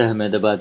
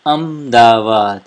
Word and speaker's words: Ahmedabad: It is called Ahmedabad Airport. In Gujarati, we say it Ahmedabad. We don't say Ahmedabad. That is how we spell it in English.